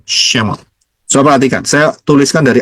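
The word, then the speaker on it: שמות: Bacanya dari kanan ya, Shemot.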